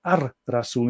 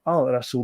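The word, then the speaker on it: الرسول: And of course, Ar-Rasul, the prophet, is pronounced Ar-Rasul instead of Al-Rasul because Ra is the, let's see, the sun god of Egypt.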